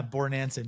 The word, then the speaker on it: Bornancin: So Brandon Bornancin, is that correct pronunciation? Yeah, Bornancin, you got it, man.